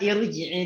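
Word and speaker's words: ارْجِعِي: Nah, kata irji'i di sini bacanya nggak boleh ar, tapi apa? Ir.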